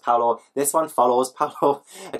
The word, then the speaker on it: Paola: It is pronounced Paolo.